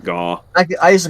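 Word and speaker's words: Gau: And that's Gao. Or Gaw. I pronounce it Gao. I used to call it Gaw.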